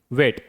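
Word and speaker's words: weight: जी एच अक्षर silent तब रहता है जब यह किसी वोवेल के ठीक बाद आता है। किसी स्वर के ठीक बाद आता है। देखिए यहां पर भी वोवेल यहां पर भी ओ यू और आई सारे क्या है? स्वर हैं। अगर स्वर के ठीक बाद जी एच आता है तो उसका उच्चारण नहीं किया जाता।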